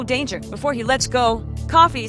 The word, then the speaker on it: Coffey: He says it's coffee, like the drink. Your servos like to drink only not spelled the same.